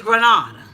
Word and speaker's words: Grenada: Grenada and you know the cohorts of Grenada had me thinking that I was pronouncing the damn thing wrong it's Grenada so you know she's